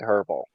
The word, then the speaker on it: herbal: I've always said herbal.